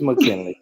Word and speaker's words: Makinlee: It's McKinley.